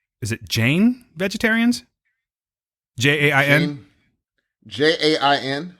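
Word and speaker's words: Jain: would you say it's Jane huh would you say that it's Jane where I'm saying it correctly yeah yes okay um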